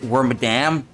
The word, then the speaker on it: Wormadam: place with the wadam that's how you pronounce it wormadam it brokes once it broke once and was